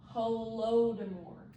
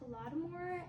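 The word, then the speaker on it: Holodomor: Well, to start the week, we're going to talk about hodore. It's actually pronounced homore.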